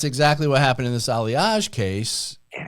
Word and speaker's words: Aliaj: Ali how do you say it aliage aliage of the aliage case and